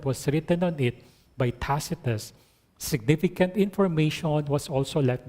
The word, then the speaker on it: Tacitus: Sa Google, merong how to pronounce. Ang pronounce pala niya, Tacitus.